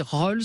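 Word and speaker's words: Roels: Surtout que quand on m'appelle Gilbert Collard, j'ouvre pas, vous voyez, Alors le livre s'appelle Les écriresses, alors je resterai de Virginie Rols, ça s'écrit R-O-E-L-S et c'est aux éditions Stock.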